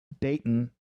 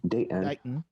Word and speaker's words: Dayton: says Shrug, and then Dayton, kind of the way we pronounce it, Date, glottal stop, in. Dayton.